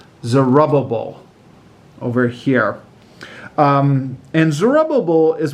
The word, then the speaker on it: Zerubbabel: Zerubbabel. That's how my teachers used to pronounce it when we were in Sunday school, and we always used to have fun with that.